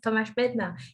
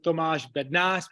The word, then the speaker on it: Tomáš Bednář: Like in Czech, we call it Tomáš Bednář, but it's really hard, like Z. So I prefer Tomáš Bednář.